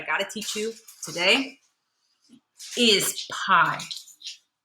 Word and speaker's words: pi: So it's pronounced pi.